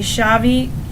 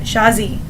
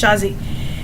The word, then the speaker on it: Shazi: girl named Shad she goes by shabi I think shabi pronounce it shazi yes shazi and she volunteers to